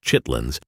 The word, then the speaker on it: chitterlings: Rooted deeply in the agricultural history of Alabama's Black Belt, chitterlings, universally pronounced chitlins, represent the ultimate expression of make-do cooking.